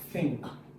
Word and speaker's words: think: Now this one in think is different from one in this. One is voiceless and one is voice. You have think then this is voiceless. You don't hear you don't hear that sound. You only hear the ink think ink. Think. But in this one this you hear the voice sound.